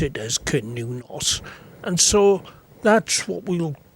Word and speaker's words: Cernunnos: horn so I suppose technically it should be pronounced canonas but I guess most people today pronounce it as canonos and so that's what we'll go with today